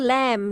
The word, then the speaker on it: lamb: of scissors let's read the M sound is a final silent digraph where the B is silent read the words aloud don't forget to keep the be silent mmm climb comb LEM